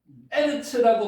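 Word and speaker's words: אֶרֶץ: 천지월 트 하샤마임 하 아르츠 자는 아르츠 에르츠라고 발음도 합니다만 여기는 하가 들어가 가지고 발음이 변동됐습니다.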